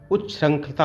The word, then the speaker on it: उच्छृंखलता: इसका विकल्प आपका हो जाएगा ए, उच्छृंखलता होता, उच्छृंखलता, जो भी आप पढ़ें प्रोनाउंसिएशन निकालें, ये विकल्प सही होगा।